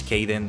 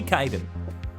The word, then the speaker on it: Kaden: really fit my M my name is not meant to repr pronounce Kaden even if some people say it like that it's supposed to be Kaiden so the pawn doesn't